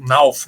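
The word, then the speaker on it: Knauff: O Knalf também é jogador da seleção sub-21 NALF, né? É mais a pronúncia eh usada pelos narradores, né?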